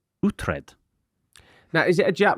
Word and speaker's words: Uhtred: How would you pronounce, I'm asking you this, how would you pronounce Utred? I'd go to the doctor. Utred. Uthred. Oh, Utred. Like, Putrid. No, Utred, like off The Last Kingdom on Netflix.